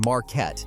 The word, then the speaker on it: Marquette: Marquette, pronounced Marquette, not like the furniture store, is classic small-town Kansas.